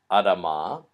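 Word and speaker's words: אדמה: So this word is pronounced Adama, not Adama.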